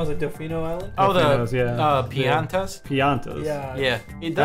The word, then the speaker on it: Piantas: Piantas. Yeah. Yeah, it does. I always say piñatas because it's just like, yeah, it's kind of like that. Yeah, yeah. It's spelled almost exactly like that.